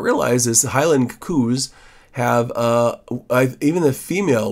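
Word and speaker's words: coo: edited in Lightroom um this is a Highland coup they're called they're called coups I guess I thought it was a highland cow and I was corrected by Scottish people every time I said it wrong and um yeah so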